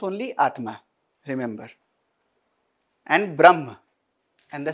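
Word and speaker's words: Brahman: only Atma remember and Brahma and the second one is Brahma again a will come we say only Brahm but we write a young gifted in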